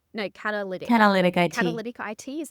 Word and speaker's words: Catalytic IT: So now I looked on LinkedIn and you work full time now as an account manager at, if I mispronounce this, please correct me, Catalytic? No, Catalytic.